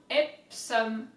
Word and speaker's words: Epsom: one we have is ipsum so i do think that it's similar to english i've actually never heard